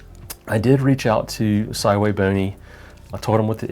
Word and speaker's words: SVBony: I think every astrophotographer out there always says SV bony and thanks to thanks to Trevor from Astro backyard to let us know that hey it is actually pronounced saway bony who knew so uh over the years you